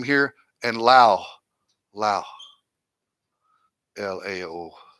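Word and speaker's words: Laos: here and Lao Lao LA oh it has an S on it but guys it's pronounced Lao there's no plural s's in Asian language so it's just Lao okay so there's the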